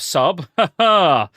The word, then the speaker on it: subtle: And speaking of sub, you must have liked that one, Go, surely. The B is silent, so speaking of I guess I don't.